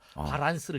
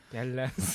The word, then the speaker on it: 밸런스: 바지를 찢고 약간 핫팬츠처럼 해서 입고 나서 다리를 또 운동하면서 자기 다리를 보면서 또 살을 붙여 나가서 바란스를 이뤘다는 예. 밸런스. 바란스. 아직도 어떤 이런 일제 잔재인가요? 일본식 발음.